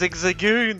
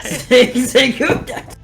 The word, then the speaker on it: Zigzagoon: It's Zigzagoon, that's right. Zigzagoon.